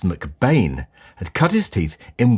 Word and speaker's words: McBean: Welsh photographer Angus MacBean, actually pronounced McBain, had cut his teeth in West End theatres in the early 1930s.